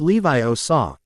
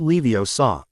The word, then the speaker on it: Leviosa: You're saying it wrong, Hermione said, leaning over to watch. It's<unk> Levi saw, not Leo saw.